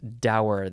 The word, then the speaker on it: dour: the next word is I guess you can say doer let's see let's check the pronounce I like dower that's that's how I've always heard it and said it it's d-o-u-r adjective from